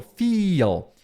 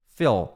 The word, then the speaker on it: feel: Mas o I é o feel. Esse aqui é meio que um E. Feel. É um E. Não é um E, não é feel. Não é. É entre o E e o I. Em vez de falar feel, olha o I. É um feel. Muita gente chama isso aqui de I curto, né? Então esse seria o I longo, feel. E esse aqui seria o I curto.